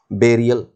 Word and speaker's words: burial: This word is टू be pronounced बेरियल.